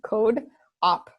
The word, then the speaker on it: CodeOp: want to check it out okay oh it's codop right so code c o d as in dog e like coding code op op so one word codop dot tech dot tech okay okay and then